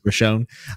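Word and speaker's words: Roshone: people and then the new city Lord Lord Roshon Russia how do you say it yeah you got it man rashone shows up and he is not happy to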